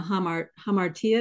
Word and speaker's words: hamartia: the sin as being the hamartia is that the correct pronunciation for that the missing the